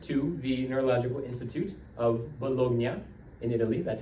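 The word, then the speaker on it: Bologna: He immediately went to the doctor and he went to the neurological institute of Bolognia in Italy that's how you pronounce it and he told the doctors I'm going to die in a year.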